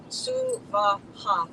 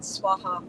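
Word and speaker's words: svāhā: So swaha, three separate, distinct, equal syllables, not swaha or swaha, which you'll hear a lot on YouTube.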